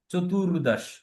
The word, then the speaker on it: চতুর্দশ: ত্রয়দশ ত্রয়দশ চতুর্দশ চতুর এখানে যেহেতু রেফ উচ্চারণটা র ভাইব্রেট হবে চতুর্দশ পঞ্চদশ পঞ্চদশ সড়শ সপ্তদশ